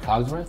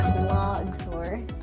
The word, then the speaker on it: Cogsworth: wrong my entire life what cogsworth yeah I said clogs Worth right I think I